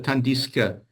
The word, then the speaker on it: tandis que: He pronounces the S, but then it has to move to the next open syllable Tandis que.